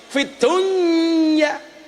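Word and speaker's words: في الدنيا: Harusnya idgham loh. Fid dunya. Tapi ternyata membacanya bukan idgham, tapi apa? Idhar.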